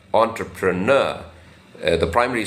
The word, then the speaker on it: entrepreneur: in this on has a slight stress so entrepreneur entrepreneur uh the primary stress is on the last syllable entrepreneur so when you U are careful